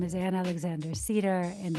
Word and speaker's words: Sieder: name is an Alexander Cedar and I am sounds like the tree but it's it's spelled s i e d r um and I'm available